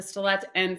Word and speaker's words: Stellat'en: Okay, so I'm Deketh Dene, and I'm from the Stellat'en First Nation in northern British Columbia.